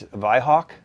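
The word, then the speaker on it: Weihrauch: this is our uh you call wine Rock that's in English the wine Rock in German it's V Hawk Believe It or Not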